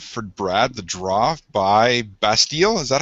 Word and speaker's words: Bastille: was number five for brad the draw by bastille is that how you say it yep all